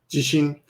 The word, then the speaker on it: 自身: So number 2 and 3 are pronounced exactly the same, but when you pronounce number 1, jishin, there's a slight, I guess you want to stress the first kanji a little bit more.